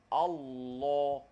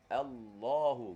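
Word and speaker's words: الله: tu tepi hujung lidah pasal ada setengah orang dia sebut lam ni dia guna daun lidah da lidah dia guna da lidah tu dia sebutini Al Al Allah Allah Allah bacanya guna daun lidah tak betul bila guna daun lidah it bunyinya Allah salah tak mahu guna hujung saja Allahu Gun huj dia untuk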